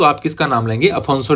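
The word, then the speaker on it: Afonso: फिर इसके बाद में दूसरे गवर्नर की बात करते हैं, अफोंसो डी अल्बुकर्क। इसको अल्फांसो भी बोलते हैं और अफोंसो भी बोलते हैं।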